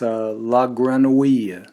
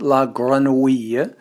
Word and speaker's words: La Grenouille: with me to perfect the sound that in French, modern French is spelled O-U-I-L-L-E. So we started working on the name of a wonderful New York restaurant that always has been known as La Grenouille.